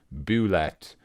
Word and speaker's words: Bulette: On the Wikipedia article, they have all the different pronunciations, and it's really they do. Bulette, Boulette, or Boulette.